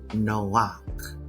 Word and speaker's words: Noach: So the the Noah that is mentioned in Genesis is actually pronounced Noak.